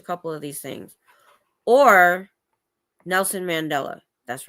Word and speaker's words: Nelson Mandela: Or Nelson Mandela.